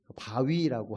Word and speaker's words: VOWE: 바위라고, 한국말로는 바위라고 발음이 되는데 VOWE 37장, 이 약자예요.